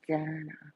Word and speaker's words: Dana: It's Dana. That's all. I actually asked her to pronounce it. That's how she said to pronounce it. D with Anna.